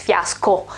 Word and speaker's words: fiasco: here fiasco fiasco fiasco this is a pronunciation uh almost the same pronunciation as the the o in bravo because it's i mean it's almost the same sound in english and it's the same sound in italian too because the right pronunciation is fiasco and yes it is